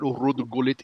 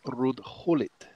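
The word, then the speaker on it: Ruud Gullit: gaal it's Louie van how and it's not rude Goulet it's rude Howlett so did you go with Wow how the Dutch pronounce it or do you do it you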